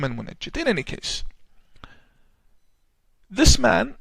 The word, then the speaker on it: Al-Munajjid: His name is Al-Munajjid, or Al-Munjid, depending on the pronunciation. The Yemenis call him Al-Mungid or Al-Munajjid. I call him Al-Munajjid.